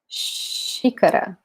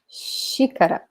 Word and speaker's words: xícara: Notice that this X here sounds like sh, sh, like this sound in English. This one, okay? So, xícara, xícara, okay?